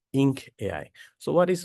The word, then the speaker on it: 1nk.ai: Today I'll be giving you the demo on 1 and K.AI or we pronounce it as ink AI.